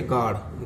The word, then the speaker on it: guard: Silence word होता है, जैसे गार्ड, गार्ड माने है चौकीदार, तो GUARD, तो इसमें U साइलेंस वर्ड है। G के बाद A आया था, इसका ही उच्चारण होगा गार्ड, गार्ड बोलेंगे, U साइलेंस है।